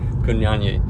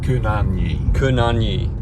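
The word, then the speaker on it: kunanyi: Kunyanyi. You're putting two Y's into it, and there's only one. One more time? Kunyanyi.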